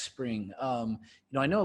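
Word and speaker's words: Xpring: so people mispronounce it X spring it's just spring-like like a water or like the season I get it all the time I've heard worse so spring is basically was originally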